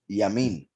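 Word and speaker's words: ימין: In fact, look how this right here, the Yud Mem Nun, that can be pronounced Yamin. Yamin is right.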